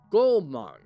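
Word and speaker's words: Goumang: of gaang should be pronounced as oh oh as in Goat gong gong okay is that right gong thank you appreciate it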